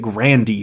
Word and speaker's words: Grande: in an arcade Ariana Grande's real name is Ariana Grande bouta with Grande being her mother's maiden name apparently her Grandpa would pronounce it Grandy though so that's interesting Riley